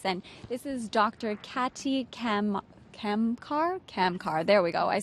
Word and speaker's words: Kamkar: Katy Kamkar.